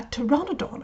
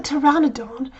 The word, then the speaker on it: Pteranodon: it to you that a Pteranodon and pterosaurs both have a pea in the front of their name is it's a silent P you don't hear it but it is there - all very fascinating